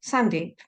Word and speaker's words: Sandeep: If Sandeep doesn't work for you, imagine it's Sandy, but with a silent P at the end.